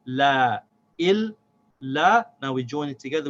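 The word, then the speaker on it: إِلَّا: Il, la.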